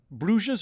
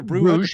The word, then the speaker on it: Bruges: They've got Ghent, and they've got Bruges or Bruges, depending on how you want to pronounce it.